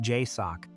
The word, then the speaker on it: JSOC: The Joint Special Operations Command, JSOC, pronounced Jay-Sock, is the parent command for United States Tier One direct action units.